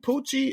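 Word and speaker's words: Pucci: First of all, is that nigga named Poochie?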